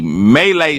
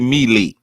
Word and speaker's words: melee: e l e e melee should be Meely it should be a melee but it's pronounced melee Malay refers to a confused